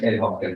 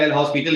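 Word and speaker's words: L'Hôpital: Generally जब भी बोलते हैं लोग एस मेरा साइलेंट होता है इसीलिए एल हॉस्पिटल होता है ठीक है। पहले मैं एल हॉस्पिटल ही करता था तो किसी ने कहा कि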